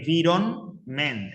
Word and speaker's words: environment: bien con el spelling fijaos que es en bironment es decir hay una n ahí delante de la m aunque no suene la pronunciación de infarto Si suena muy levemente esa n es una n porque